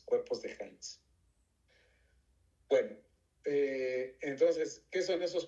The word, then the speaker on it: Heinz: Estos se llaman cuerpos de Hans. H, E de Eduardo, no A de Angélica, E de Eduardo, y latina, N de niño, y Z, Heinz. Como es alemán, se pronuncia Heinz, cuerpos de Heinz.